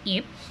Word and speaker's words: 입: So as you can see, the letter that's NG, which is silent, so we cannot read that one, only the. So that's a consonant, letter I, and letter P.